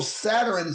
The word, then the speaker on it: Satur: Therefore, Saturn signifies the hidden God. The name Saturn is pronounced as Satur, S-A-T-U-R.